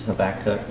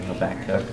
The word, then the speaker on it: Habakkuk: You can say his name Habakkuk or Habakkuk. So whichever way you say it is fine. It can be pronounced either way.